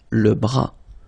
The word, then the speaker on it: bras: Same thing here. Final S not pronounced. Le bras.